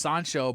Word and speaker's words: Sancho: call the guy uh well in Spanish it's soncho but in your case it's